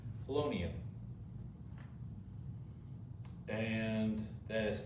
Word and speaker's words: polonium: so we look at our periodic table and we figure out what's 84 and that's oh i really need to get better pronouncing polonium colonial but with a p polonium and that is correct